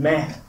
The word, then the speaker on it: με: So the subject of my paper is here, why meh? And meh, for those of you who can't read ancient Greek, is just ancient Greek for me in the accusative.